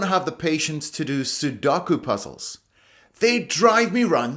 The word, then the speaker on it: Sudoku: I just don't have the patience to do Sudoku puzzles. They drive me round the bend. Sudoku is also used in English, but as you can see, the pronunciation is completely different. Sudoku.